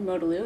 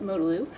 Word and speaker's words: Modalu: in the video represented Modalu, and she said it Modalu, not Modalu or any of those other pronunciations I've heard.